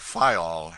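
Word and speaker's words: Fayal: of the group FAL the people there pronounced it FAL and put the accent on the first syllable we anchored in the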